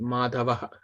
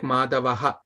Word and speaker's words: Madhava: Madhava. All of you correctly pronounced it. Madhava. Not like Madhavaha, not that. Madhava.